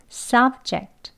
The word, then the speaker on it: subject: 싸 억 죄 부드럽게 입술이 살짝 답게 만 발음을 하는 겁니다 썩 제 싹 jr 이렇게요 입술에 힘 주지 마시고요 싸 억제 싸 억제 이렇게 말을 합니다 그리고 두번째 바르면